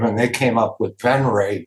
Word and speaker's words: Venrez: and kind of like it you know it's pronounced ven but it's spelled venes v NR e z